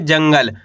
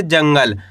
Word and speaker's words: जंगल: जंगल आपको करने के आधा न का उच्चारण तेजी के साथ निकालना है। कैसे? जंगल।